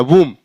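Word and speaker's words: womb: एम बी यहां पर एम के बाद बी तो बी साइलेंट हो जाएगा तो क्या हो जाएगा वूम वूम मींस क्या होता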